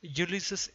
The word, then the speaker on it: Ulysses: For example, இது கூட யுலிசீஸ் என்று தான் சொல்ல வேண்டும், யுலிசஸ் என்று சொல்லக்கூடாது.